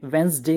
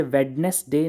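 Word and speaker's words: Wednesday: नहीं कर पाते थे बुद्ध को अंग्रेजी में वेनसडे कहा जाता है इसे वेडनेसडे नहीं कहा जाता उसी तरह से फ़ेब्रुअरी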